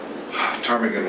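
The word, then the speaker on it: ptarmigan: number dvp 348 that's 6470 tarmigan way it's a silent p uh yes you worship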